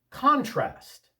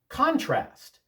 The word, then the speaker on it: contrast: Contrast. Contrast. with the accent on the first syllable, that's a noun. There is a contrast between our views and their views. They're not the same. Contrast with the accent on the second syllable, that's the verb. Compare and contrast these two poems. Show the difference between them.